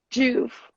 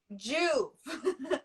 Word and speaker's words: JUV: Juve. Juve.